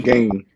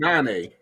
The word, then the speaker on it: Gane: Fighting Cyril Gane. Yeah. Gane, it's John Bones Jones. You pronounce it Gane?